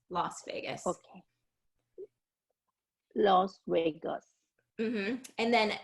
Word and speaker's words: Las Vegas: So it's not how it's spelled. So it should be Oh, pronounced based oh, on the spelling last, like I, you said, but it tends to be Las Vegas, Las Vegas.